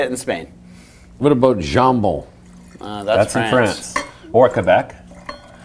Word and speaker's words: jambon: What about jambon?